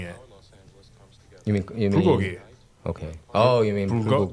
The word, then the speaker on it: bulgogi: You mean Bulgogi. Okay. Oh, you mean They're putting the emphasis on the wrong syllable.